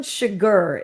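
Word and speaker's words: Chigurh: fucking movie so yeah Anton chigger is the name of the character in No Country for Old Men it's c-h-i-g-u-r-h sugar that's like how they spell it on the uh for the movie but my friend Garrett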